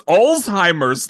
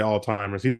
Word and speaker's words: Alzheimer's: it's like a it's a German word it's Alzheimer's like I know I'm trying that's what I'm